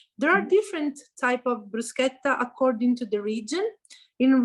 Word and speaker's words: bruschetta: bruschetta to the restaurant remember to pronounce correctly the word bruschetta and not bruschetta will do thank you eleanora welcome